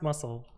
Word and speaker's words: musl: it is indeed pronounced muscle uh how do you pronounce this yes pronounced the same as the english words muscle or muscle cool okay